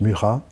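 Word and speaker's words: Mucha: d'un article étonnant murat qu'on écrit micha mais on prononce murat dont la carrière a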